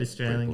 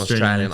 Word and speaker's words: Australia: The key about Australians is that they don't pronounce the name of their country correctly, and that's how you get into the Australian character. You know, Australia. Australia. Yeah, Oh, so you don't say the L.